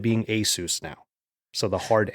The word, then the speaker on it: ASUS: I always thought it was ASUS because it's Pegasus. I was told that by people who work there, but apparently they are okay with it being ASUS now.